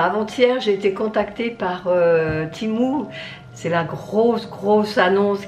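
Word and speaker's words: Temu: sans avoir une publicité c'était ému mais ça se prononce timou et mon contact est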